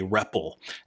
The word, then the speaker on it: REPL: programmer's environment is commonly referred to as a reple at least that's how I pronounce it and stands for read